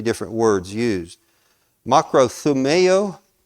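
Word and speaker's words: μακροθυμέω: Makrothumeo, I believe is how it's pronounced.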